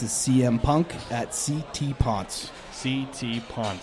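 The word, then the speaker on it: Pontes: CM Punk at CT Pon. CT Pon P N T E S. Thank you. I was going to ask you to spell it for us. Mispronounced my whole life, but it's not Pontis.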